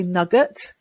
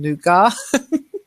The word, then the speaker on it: nougat: Now, strangely, I usually say nugget, but people get confused. So I'm using the French pronunciation nougat. But as a Brit, I tend to say I like nugget, but most people don't know what I'm talking about then.